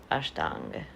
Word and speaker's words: Ashtanga: Asht, 8, anga, limb. Ashtanga, actually, is how we really pronounce it.